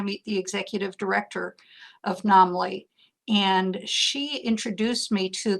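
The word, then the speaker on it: NAMLE: Is that how you pronounce Yeah, it? NAMLI is how I pronounce it, the National Association for Media Literacy Education.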